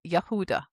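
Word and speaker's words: יהודה: The first month is associated with Yehudah. Their symbol is the lion. And there's the word the Hebrew spelling for Yehudah. We We refer to it as Judah. But the Hebrew pronunciation is Yehudah.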